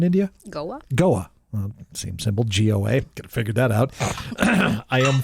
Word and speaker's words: Goa: John distillery in is it how do you pronounce the name in India Goa well same simple Goa figure that out I am four bottles into